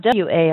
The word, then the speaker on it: war: you would say car if you had t a r you would say t but if you have W AR R it sounds more like an O so in a war